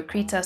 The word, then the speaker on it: Krita: I've heard it pronounced Krita and Krita, but I prefer Krita, so that's how I'ma say it.